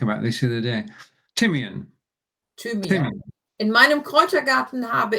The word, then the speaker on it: Thymian: Thymian. Thymian.